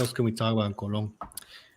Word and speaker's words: Colón: You have, in Spanish, it's Colón with a tilde. You're Colón. Colón. And then Zonians are like Cologne, like Cologne.